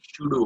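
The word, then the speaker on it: pseudo: okay, तो यहाँ पे जो शूडो फोर्स लगता है, ओके, डोंट से इट्स पे शूडो, वहां पे पी साइलेंट है, और साइलेंट और साउंड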